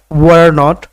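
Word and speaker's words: weren't: নট ওয়াজন্ ওয়ার নট ওয়ার নটের কিন্তু দুটো উচ্চারণ রয়েছে একটা হচ্ছে রয়ে আপনি উচ্চারণ করতে পারেন যে ওয়ারন্ট ওয়ারন্ট ওয়ারন্ট ওয়ারন্ট ওয়ারন্ট ওয়ারন্ট আরেকটা বলতে পারেন র উচ্চারণ বাদ দিয়ে ওয়েন্ট ওয়েন্ট ওয়েন্ট ওয়েন্ট ওয়ার নট ওয়েন্ট তবে উচ্চারণ বাদ দিয়ে আপনি উচ্চারণ করবেন এটাই আমি পরামর্শ দেই ওয়ার নট ওয়েন্ট ওয়েন্ট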